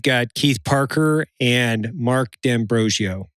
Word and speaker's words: D'Ambrosio: We've got Keith Parker and Mark D'Ambrosio. Did I say it right? Oh, man. I said it right.